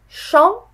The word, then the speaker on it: champignon: Champignon. Champignon. Alors, la première syllabe qui est champ, on a l'impression que ça contient le son en, mais ce n'est pas le cas.